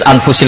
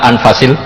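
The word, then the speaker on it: أنفس: saya saja di sini ditulis anfusil kutub saya baca anfasil kutub karena maknanya kitab ter baik Kalau kitab terbaik bacanya bukan anfus tapi apa anfas ya nanti kamu debat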